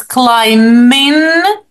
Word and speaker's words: climbing: Okay, but pronunciation, listen to me. He's climbing the mountain. Repeat. Look, he's climbing Don't say B. the Don't say B. mountain. No, we don't say that.